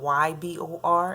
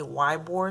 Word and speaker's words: Ybor: When people see Ybor, it's spelled Y-B-O-R, and they say Ybor City, but it's really Ybor City, and also Channelside.